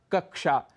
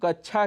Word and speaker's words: कक्षा: से मिलकर बना है लेकिन उनका उच्चारण कई बार छ ऐसा कर जाते हैं उदाहरण के लिए कक्षा जिसे हम कच्छा कह जाते हैं ऐसे ही इच्छा इच्छा